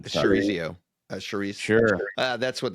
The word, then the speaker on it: chorizo: Manchego, firm, buttery, excellent with charzero. Charzero, I'm probably blowing that. Chorizo.